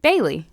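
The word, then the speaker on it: Baili: And then my next one is from Bailey, B-A-I-L-I. B-L what? Wait. B-A-I-L-I. B-A-I-L-I. Bailey.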